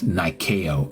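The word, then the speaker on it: Νίκη: Yes, Nikeo is the way it's pronounced in Greek.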